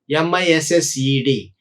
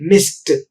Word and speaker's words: missed: For example, if you look at the past tense of miss, which is missed, but here the allomorph ed is pronounced as ta, not da. We say it missed, but we do not say missed, right?